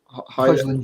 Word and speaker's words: Højlund: And the reason why United as 4th was purely because I felt that although they bought that Højlund, is how he pronounced his name? Højlund, yeah. Højlund.